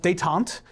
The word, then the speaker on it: détente: It's pronounced détente, and it means, Like famine.